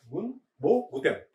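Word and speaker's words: 文房具店: Oke, bacanya Bunbo Guten.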